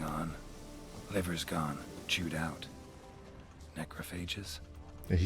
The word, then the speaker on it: necrophagous: gone chewed out macrophages does he actually pronounces it some phages back through here bodies didn't say phage sort of a smoother sounding gh rigor mortis suggests poison